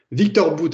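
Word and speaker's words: Viktor Bout: de Victor Anatole lyrics et je le prononce voyez à la russe avec le patronyme anatoliervitch qui signifie que son père s'appelait Anatolie Anatole Victor boot alors Victor boot effectivement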